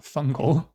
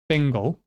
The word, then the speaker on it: Fingal: Fingal, not fungal, Fingal.